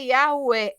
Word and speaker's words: Yahweh: Ao analisar inúmeros manuscritos contendo o nome Yud, He, Vav, He, concluiu o rabino James Trim que a pronúncia correta é Yahué, em concordância com os maiores especialistas sobre o tema.